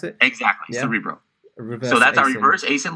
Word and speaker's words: Cerebro: into this is that cerebro is that you pronounce it exactly cerebro so that's our universe Aysen look up -